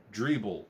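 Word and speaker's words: Djibril: Dreibel, I think is how it's pronounced, but I've been wrong so many times before.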